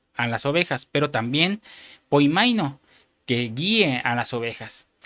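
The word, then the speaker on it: ποιμαίνω: Ahora usa otra palabra que se pronuncia poimaino, que quiere decir guiar.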